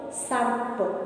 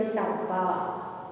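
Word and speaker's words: सर्प: Rupa say Sarp. Don't say Hindi word Sarpa. It is wrong.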